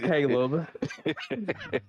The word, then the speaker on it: Caleb: episode man got Mr CLE black flash yo yo yo what's up everybody it's me Caleb black flash he said my name wrong KH uh it is Caleb Caleb God speed on you